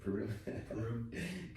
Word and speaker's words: Purim: Purim.